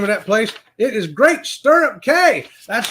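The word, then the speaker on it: Great Stirrup Cay: hold on I don't want to say the name wrong what is the name of that place it is great sturup K that's right great sturup K was a great Beach day a great Beach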